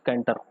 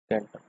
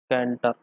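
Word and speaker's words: Cantor: George कैंटर, कैंटोर। ठीक है, George कैंटोर बोलते हैं इसको।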